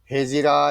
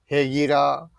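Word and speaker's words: Hegira: तो उस उड़ान को उनको हेजिरा, हिजरा, हेगिरा, अलग अलग प्रोनाउंसिएशन है, इस तरह से बोलते हैं।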